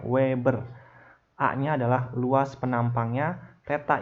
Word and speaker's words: weber: ini dibacanya fluks magnet dalam satuan WB dibacanya Weber aanya adalah luas penampangnya